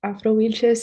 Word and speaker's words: Afro-Wilches: She is a member of Afro-Wilches, pronounced Afro-Wilches, an organization representing Afro-descendant Colombians.